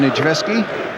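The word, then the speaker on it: Niedzwiecki: free kick to Chelsea Captain Nijeski, which incidentally is the way he says his name should be pronounced.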